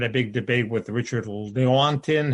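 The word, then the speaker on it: Lewontin: big debate with richard leontyn how do you pronounce his name well lewinton that's a different argument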